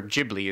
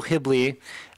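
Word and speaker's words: Ghibli: gibli yeah they the technically it's gibl is when you call the wind but uh Japanese or jibli is wind J yeah but uh the Japanese don't have a hard G according to Wikipedia hibl so studio hibl um which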